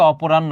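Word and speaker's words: অপরাহ্ণ: আছে তার চোখের নিচে অপরাণ্য উচ্চারণটা দেখো কি হবে অপরাণ্য মানে বিকেল বেলায় দুর্বল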